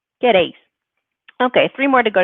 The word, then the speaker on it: queréis: So all together, we have queréis, queréis, and don't forget that accent on the E, queréis.